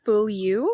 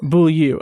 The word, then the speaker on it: Beaulieu: when teenage Priscilla, I can't remember how to pronounce her name, Beaulieu? Close. I think it's Beaulieu. Beaulieu.